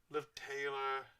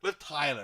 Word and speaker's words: Liv Tyler: Liv Taylor. It was Liv Taylor, right? No. What was that girl? Tyler. Liv Tyler, that's right. Not Taylor.